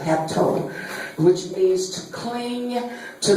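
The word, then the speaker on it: ἅπτω: When you look at this word touch in the Greek, it's pronounced haptu, A-P-T-O, hapto, which means to cling, to lay hold of.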